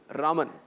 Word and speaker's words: Raman: So all you fans out there who think it's Raman Mahadevan, no, it's not Raman, it's Raman. Yeah, that's the actual pronunciation.